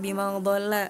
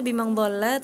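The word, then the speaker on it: ضل: Contohnya pada huruf D ee di surah Alqalam ayat keet7 bima eh huruf donnya itu masih terdengar seperti huruf dal begitu. Jadi bimang dola eh harusnya bimang dolla tapi tadi Tika bimang dolla gitu.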